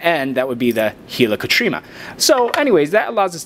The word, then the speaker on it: helicotrema: One of my favorite structures is something we call the helicotrema. I know that some people will be like, hey, that's not how you pronounce it. I pronounce it how I spell it. So helicotrema, this is like the